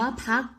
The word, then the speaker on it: พรรค: เต่า ร เรือ การันต์ คำ ว่า พรรค อ่าน ว่า พรรค มี ตัว ต่อ เต่า ร เรือ การันต์ คำ ว่า ว่า ชั้น นิล ผ่าน ว่า ชนินทร์ มี ตัว ทอ ทะ หาน รอ เรือ การันต์ คำ ว่า นิรันดร์ อ่าน